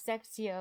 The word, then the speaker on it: sextio: I totally forgot that the 20s and 30s are spelled with an O at the end since you don't pronounce it.